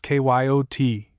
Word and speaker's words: coyote: If I remember rightly, this ladder was the regular coyote, pronounced k yo t of the farther deserts.